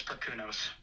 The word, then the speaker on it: Perkunos: How is Perkunos supposed to be pronounced? I pronounce it as Perkunos.